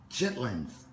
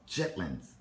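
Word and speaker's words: chitterlings: food um Estelle yes have you ever tried chitlins Shetland no chitlins no I don't know what it is do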